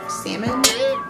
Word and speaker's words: salmon: joe's alaskan sockeye salmon salmon i'm one of those people that pronounces the l now sockeye salmon boneless